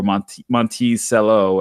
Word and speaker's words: Monticello: find that all on Monticello org or month Monticello as some folks from the neighboring Barbados Islands you know pronounce it so I thought